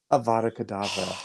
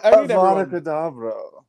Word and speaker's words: Avada Kedavra: Avada Kedavra. Oh. So Avada Kedavra.